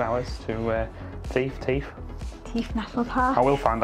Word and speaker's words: Theth: be on the road for 2 hours to Theth National Park. I will find out how it's pronounced.